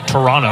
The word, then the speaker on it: Toronto: Best player coming out of Canada, she was out of Toronto. I don't pronounce that second T today.